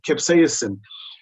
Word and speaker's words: capsaicin: a specific ingredient that let me try and pronounce it correctly i think it's called capsaicin capsaicin yes that's it capsaicin capsaicin is the active ingredient in cayenne peppers